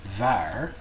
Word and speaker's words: waar: On the beginning of a word, a W will usually be pronounced much like a V sound. So here we have waar, but in the second